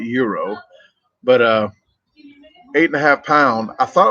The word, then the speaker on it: gyro: It's not a gyro. It's spelled GYRO, but they call it euro.